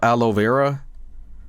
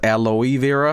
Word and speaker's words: aloe vera: Here's a bunch of aloe vera. I used to pronounce it aloe vera, because in Sweden we say aloe vera. But that's not how you say it in English, so, you know, oops.